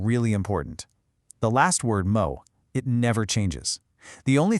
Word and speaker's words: moe: It's a really short sound, kind of like moo, but you cut it off quick. It's not a long moo. It's just mo.